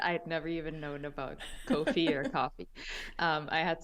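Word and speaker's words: Ko-fi: know there's like uh coffee and or I don't know if it's supposed to be coffee or coffee I think it's supposed to sound like coffee but it's spelled KO Dash fi and other platforms like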